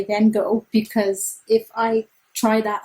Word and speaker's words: Van Gogh: van gogh exhibit and dutch speaking people please forgive me i pronounce van gogh like van gogh i am an english speaker although it is incorrect here's what google translate